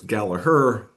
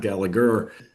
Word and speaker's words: Gallagher: When you're talking about the Irish pronunciation, the G is silent.